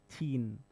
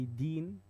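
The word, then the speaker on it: تين: And if you don't pronounce it well, you say deen, that's the religion, the lifestyle of a Muslim. So ta and dal, they're from the same makhraj, the same room, but one is light, and like they're pronounced different.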